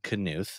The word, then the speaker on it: Knuth: started dating my husband hard K can is it a hard K it is a hard K Jen Allen canth okay you're responsible for